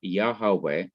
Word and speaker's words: Yahweh: divine name yahweh or yahweh is thought to be the correct pronunciation of god's personal name but when the inseparable